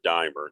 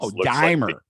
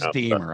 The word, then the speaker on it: Deimer: Well, first, I'm Deimer, just so you know. Deimer. I thought it was Deimer. I'm sorry. No, hey, I've gotten that my whole life because that's the way it looks like when it's spelled.